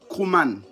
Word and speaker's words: Krouman: Maintenant, au singulier, on dira Krouman. Krouman s'écrit K-R-O-U-M-A-N.